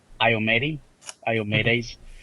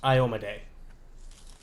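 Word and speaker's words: Iomedae: I'm gonna mention that there's no temple dedicated to Iomedes, depending on how you want me to pronounce that. And If it's who I think it is, I believe it's pronounced Iomade.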